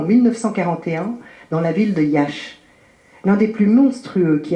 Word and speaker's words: Iași: Il est né en 1976 dans la ville de Iași, c'est juste, je prononce juste, Iasi, située dans l'est de la Roumanie, pour ceux